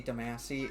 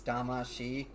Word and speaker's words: Damashi: you know trust me there's tons of reviewers out there who say damasi it's damashi because i've heard the theme song so many damn times yeah because uh because in